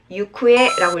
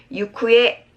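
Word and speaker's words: 行方: 예외 읽기예요. 훈독으로 유쿠에라고 읽으셔야 돼요. 다시 유쿠에 기억합니다.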